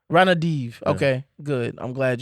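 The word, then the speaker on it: Ranadivé: I think it's Ranadiv. Ranadiv.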